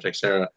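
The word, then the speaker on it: Texeira: like there it is Teixera or take Sara how he say his name to share it take Sara I was like oh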